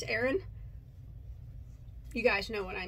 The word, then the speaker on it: Aran: I got told I say it wrong. I say Aran, but I guess apparently it's Aran.